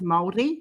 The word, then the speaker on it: Maori: what are you saying m-a-o-r-i it's moldy you roll the r okay i can't i'm